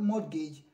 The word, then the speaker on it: mortgage: is not it is not mortgage but mo mortgage okay the t is silence why the the air is replaced by i then this one